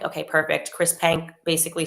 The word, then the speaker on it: Chris Penk: Minister, it's Chris Penk. Okay, perfect. Chris Penk basically said, we're reversing this ban.